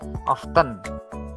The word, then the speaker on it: often: T-nya kalau membaca ya, you must pronounce ya often. Ya, T-nya tidak dibaca. Ya. Kayak baca yang buat roti itu apa? Oven ya. Buat masak itu ya, oven. Nah, bacanya kayak itu. Ya. Jadi T-nya tidak dibaca ya.